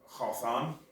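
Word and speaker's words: חתן: And the Hebrew word is the Strong reference 2859, and it's actually spelled Chathan, pronounced Chathan, because it has the long hyphenation.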